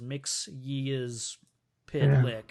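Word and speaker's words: Mxyzptlk: Mixoplick is the easier way. I Yeah. always remember how, like in the Superman animated series, when he explains how to pronounce his name, he says "Mix Ye's Pitlick."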